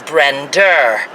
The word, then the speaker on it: Brenda: Like the name Brenda is Brender. Linda is Linder.